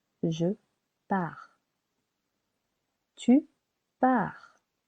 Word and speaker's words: pars: Je pars. Silent S. Je pars.